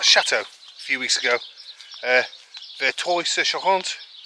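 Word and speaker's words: Verteuil-sur-Charente: Vertuy sur Charente. Whereas on that video, I called it Vertuy. Wrong pronunciation.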